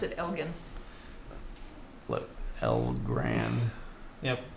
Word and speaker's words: Elgin: I think they pronounce it Elgin.